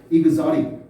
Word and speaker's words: exotic: 발음이요. 알았죠? exotic, 이국적인, 외래의, 외래종이 뭐 이런 뜻입니다.